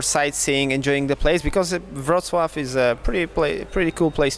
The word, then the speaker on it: Wrocław: How do you pronounce? This place? Yeah. Wrocław.